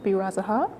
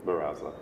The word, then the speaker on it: Baraza: Andy Birazaha. Am I pronouncing it correctly? Baraza. Baraza, the second?